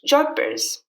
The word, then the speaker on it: jodhpurs: So this one is actually derived from the Indian city of Jodhpur, and in the English version is actually pronounced Jodhpurs.